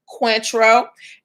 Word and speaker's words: Cointreau: spelled c-o-i-n-t-r-e-a-o so the orange liqueur it is pronounced quantro and this new drink is pronounced cuatro all right so um roxamilla is saying that there's room for cointreau and cuatro um also we need to point